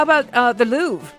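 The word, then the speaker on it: Louvre: How about uh the Louv? There's technically a little R.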